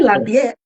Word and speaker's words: Lafayette: the city in Louisiana you know I'm G mispronounce it from I'm from I was born and raised in Lafayette Louisiana I say Lafayette yeah I was born raised in Lafayette Louisiana um but I currently live in Karen